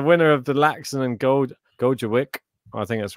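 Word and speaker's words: Gojowczyk: The winner of Laaksonen and Gojovic I swear I've been pronouncing it wrong the whole time. I think it's Gawachik, something like this.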